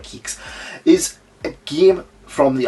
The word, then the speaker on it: QIX: And if I'm honest, there was one game I wanted this for, and that was Kicks. Is that how you pronounce it? Quicks. QIX. Now, Quicks or Kicks, I'm going to call it Kiks.